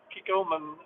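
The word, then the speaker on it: Kikkoman: I've got my Kiko Man ball cap on that I like to wear.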